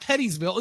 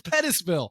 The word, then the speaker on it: Pettisville: after can't pronounce it it's pet no it's not pettyville it's Pettisville Petty okay is it ant